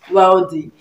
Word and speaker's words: wealthy: Nigeria we say the man is wealthy right wealthy now you think that direct pronunciation should be um well V well V